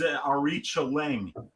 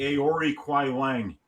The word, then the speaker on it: Aoriqileng: And he also trains at Fight Ready, but this is Aoriqileng. Aoriqileng. Or if you just want to pronounce it phonetically, Aoriqileng, which is also acceptable for me.